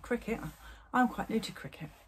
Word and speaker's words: Cricut: i said qriket or cry cut but it's actually called cricket i don't know why ass english say cry cut but it is cricket it's pronounced cricket the americans say cricket and it is definitely